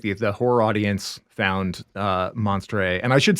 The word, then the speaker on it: Monstre: horror audience found uh monster and i should say like as as people hear that like this is so this is the french pronunciation you know of of that word um uh and that's